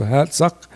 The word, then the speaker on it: Hatzic: He put an H, and he put a double A to kind of give length to the A sound, so hat suck.